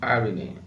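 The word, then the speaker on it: Eirene: This word is pronounced irony.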